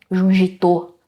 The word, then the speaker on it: Junji Ito: Quer dizer, todo mundo tem, espera uma coisa do do Junito, né? Jungitô, como eu acredito que seja a pronúncia mais correta do Itô, mas esperava estranhezas, círculos, né?